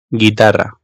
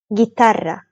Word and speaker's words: Guitarra: Araya bir adet u alalım. Ve o u'yu telaffuz etmeden normal g ya da g şeklinde okuyalım. Buraya dikkat, bu yanlış sizin karşı tarafça anlaşılmamanıza sebebiyet verebilecek bir yanlış. O yüzden lütfen bu durumda U harfini kesinlikle kesinlikle okumayın. Şimdi atıyorum Guerra yazmışım. Bunu Guerra diye okumayın. Özellikle bu videodan sonra lütfen yapmayın.